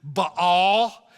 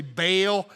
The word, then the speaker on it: Baal: you'll see that and you'll hear somebody pronounce it Baal and uh some people say baale I don't know whether it's ba or baale but I'm pretty sure you don't need to know that to go to heaven and so we're just going to go with baale and baale was the